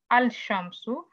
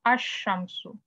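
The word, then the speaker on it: الشمس: You should not say al shamsu. You should say ash shamsu.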